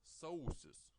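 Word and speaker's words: sausis: January is called sources the stress is on all sources sources on the second letter of the diphthong oh oh okay but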